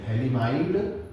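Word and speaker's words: फ़थैलिमाइड (Phthalimide): GTR का full form क्या होता है, गैब्रियल थैलेमाइड रिएक्शन, या पी साइलेंट है, थैलेमाइड रिएक्शन।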